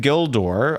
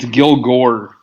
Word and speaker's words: Gilgore: I don't know if there's anything I could do to prove that I'm not suppressing information from Brian Gildor. I will... It's Gilgore. Gilgore.